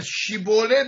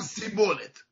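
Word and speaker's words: שיבולת: شین رو سین تلفظ میکرد. به شیبولت میگفتن سیبولت.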